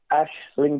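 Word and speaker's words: Aisling: I have to say it's Ashling daily like like a tree like an ash or Ash Ashling daily it's just a pronunciation in Irish um yeah uh well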